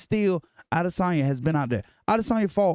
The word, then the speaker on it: Adesanya: Israel Adesanya, or Adesanya, because we all say his name wrong, versus Alex I be Pereira.